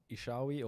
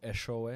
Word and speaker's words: Eshowe: So I come from a small farming town called Ishawe, or Eshowe, if you want to say it properly.